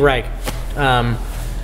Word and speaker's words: Reich: a given modern composer do you say Steve rice or Steve Reich you always hear both I said it right but I write it makes sense to me because it's like a German word so Steve Reich so I got really